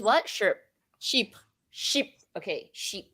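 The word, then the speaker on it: Chypre: french speaker so but if you pronounce it properly i pretty sure it's sheep sheep sandals so it's almost like saying it's almost like saying sheep but like not really it's like sheep sheep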